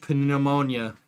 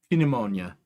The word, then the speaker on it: pneumonia: I'm soaking wet and I don't want to catch panimonia. Pneumonia. You know, that's how it's said. That's how they say that.